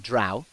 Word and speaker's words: drow: yet another the Vizarin DeVir, but this one appears to be human rather than drow, or I forget. Okay. Drow, rhymes with cow.